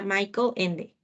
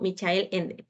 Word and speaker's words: Michael Ende: en este caso sería michael ende o michel en como quieran pronunciarlo mycube sería más propicio